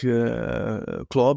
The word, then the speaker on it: Klaauw: Klaauw, I pronounce it like Klaauw, but in Dutch it really means Klaauw, which is the Dutch pronunciation, really means claw, like the claw of Wolverine, if you know what I mean.